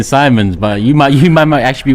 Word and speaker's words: Simons: Because it's jarring me, you man saying Simons, but you might actually be right. Javi, tell me, how do you say his name? Simmons.